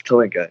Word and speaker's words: Tilinca: He is, let me say your name, Tilinca. How do you say your name? I should have asked Very that. close. Very close. Tilinca, yes.